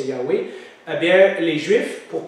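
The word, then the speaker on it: Yahweh: avait dans la Bible avant on disait Jéhovah mais maintenant on sait que la prononciation c'est yawei et bien les Juifs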